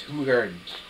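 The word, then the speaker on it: Hoegaarden: Belgian wit I liked hogard the best hugard hugard yes proper Belgian pronunciation is hugard soft G Rickards makes a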